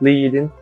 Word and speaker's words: leading: The space between lines is now as leading, pronounced leading, in the publishing industry.